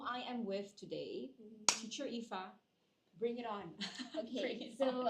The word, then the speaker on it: Iffah: So a lot of my students pronounce my name as Ifa. So I'm just letting you know it's Teacher Ifa. Okay, I just tell them it's not iPhone. I'm not an iPhone.